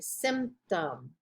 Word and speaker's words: symptom: just nia and again p t o m tom like sim tom you don't pronounce that p symptom ptosis again you don't